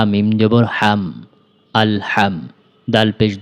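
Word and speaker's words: الحمد: আমার সাথে সাথে বলুন হামজা লাম জবর আল হা মিম জবর হাম আলহাম দাল পেশ দো আলহামদু আলহামদু হা এর উচ্চারণটা পাতলা করে উচ্চারণ করতে হবে।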